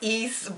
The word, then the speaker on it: EAS: guys e a is some people pronounce it as ers East but it's EAS that's the line of